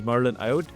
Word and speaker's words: Marylène Ayotte: Please welcome Marilyn. Welcome to Business Leadership Podcast. Today's guest is Marlin Iote. I hope I pronounced it right that the Marlin your last name.